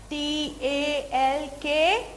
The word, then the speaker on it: talk: L is silent. T-A-L-K.